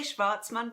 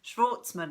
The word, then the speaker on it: Schwartzman: Schwartzman I say shvartsman because I have a Swiss German background Schwartzman I think you guys were in North America would pronounce it so exhume is the first book in the dr.